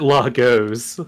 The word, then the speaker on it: Largo: guess yeah is it Lagos Largo Largo w ow oh there's no back there's no numbers it's gonna go Largo one lagot because it would in the French be pronounced Lago what what is the